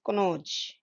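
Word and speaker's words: Kannauj: so many words like just like kanoj it is in uttar pradesh which is pronounced as konoj and this after this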